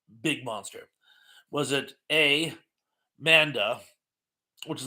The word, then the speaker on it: Manda: to fight what a mandra and I believe I'm mispronouncing it I don't think there's an R there I think it's Manda I'm sorry I always put an R there for some reason Manda B King Kong